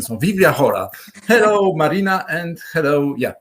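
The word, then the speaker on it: Biblia Chora: Do I pronounce it well? Vivlia? Yes, perfect. Vivlia? Yeah. Yeah, this is. I have to thank to Adam Drozdowski, my friend, who taught me the Greek pronunciation.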